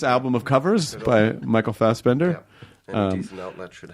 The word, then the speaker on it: Fassbender: Michael Fassbender. Louder. Louder. More intense. Yeah. Fassbender. That's better. Yeah. I put the emphasis on the second one instead of the... Well, I would imagine Americans are like, Fassbender.